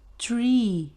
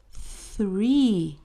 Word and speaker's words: three: Perceba que eu não disse tree, que quer dizer árvore, eu disse three. O número três.